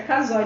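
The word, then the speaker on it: Casoy: Ela é filha do jornalista Boris Kazoy, acho que é Kazoy mesmo a pronúncia do nome.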